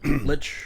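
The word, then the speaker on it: Leitch: That's how you pronounce it. Lich.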